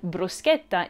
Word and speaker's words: bruschetta: your favorite italian dishes so many non-italian speakers pronounce words like bruschetta incorrectly but you can educate your friends at the table when you correctly slip in that k sound is the staff italian